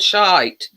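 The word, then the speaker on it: Shyte: in it yeah and it's called shite it's not it's spelled s-h-y-t-e but yeah we're the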